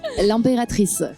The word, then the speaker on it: L'Impératrice: But lastly, I want you guys to how to pronounce Lime Pratis. L'impératrice.